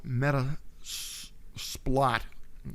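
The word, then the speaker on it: Metasploit: trial but this is called meta splot okay that's how I I pronounce it but it's the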